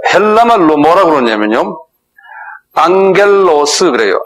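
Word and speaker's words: ἄγγελος: 안겔로스 그래요. 안겔로스 한번 발음해 보세요.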